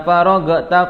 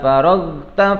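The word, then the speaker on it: فَرَغْتَ: Hati-hati di pembacaan faragtanya, jangan sampai dikolkolahkan atau jangan sampai dipantulkan. Kadang ada yang baca fa iza faragta fansab, salah, ya. Tapi bacanya fa iza faragta fansab, faragta fansab, ya. Faragta fansab. Jangan bacanya faragta fansab, salah, ya. Jadi jangan kalian pantulkan.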